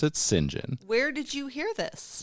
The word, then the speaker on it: St John: how you pronounce that goddamn name it is pronounced singen it's it's spelled St period space j o h n but you pronounce it singen where did you hear this this is just